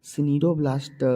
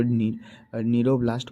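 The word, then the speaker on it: cnidoblast: यहाँ CNIDO सिनीरोब्लास्ट लिखा हुआ है, लेकिन इसको नीरोब्लास्ट पढ़ते हैं क्योंकि सी साइलेंट होता है, ठीक है।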